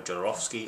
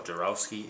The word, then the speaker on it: Jodorowsky: sangra directed by Alejandro jorovsky or jarowski it's it's spelled with a W I think it's pronounced with a v there's still a little